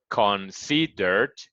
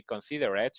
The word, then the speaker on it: considered: in mind is that this E is not really pronounced. So you're gonna say consider in present, considered in past is the same number of syllables. That's why it's important. If you say considerate or something like that, and it's not the correct way, and it could be